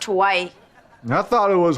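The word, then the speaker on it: Hawaii: the chip to Haw I I it's it's pronounced Hawai I thought it was hor are you Dice needs the girls to hide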